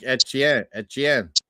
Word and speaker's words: Etienne: He's saying they're always pronouncing his Louisiana name wrong. It's more like a It's like etchen, which makes sense in French.